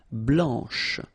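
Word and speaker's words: blanche: final C and then blanch okay remember when you combine this C you get the sound sh blanch okay so BL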